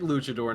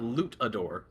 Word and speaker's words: luchador: I was literally about to ask if he was a wrestler because I thought he said luchador, like legit luchador, not lootador.